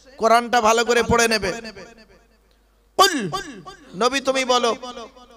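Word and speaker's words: قُلْ: কি বললাম? কুল নয়, কুল। উচ্চারণটা ঠিক করে বলুন। কয় হস্য উলা কুল, কয় বয় হস্য উলা কুল। দুটো কুলের মধ্যে পার্থক্য আছে। কওয়ালা ইয়াকুলু থেকে কুল মানে বলো, আকালা ইয়াকুলু থেকে কুল মানে গেলো বা খাও।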